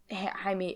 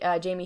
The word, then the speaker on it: Jaime: i don't think that jaime jamie harrison whose name has been i've been pronouncing wrong this entire time he's going to